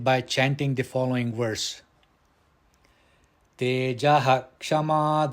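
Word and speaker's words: तेजः: Now in the first pada, that is Tejaha, the visarga, it is followed by the letter ksha, kshama. Therefore, the visarga must be pronounced. Tejaha kshama dhrutish shaucham. Dhrutihi, the visarga here, it is appearing within the quarter, so it should not be pronounced.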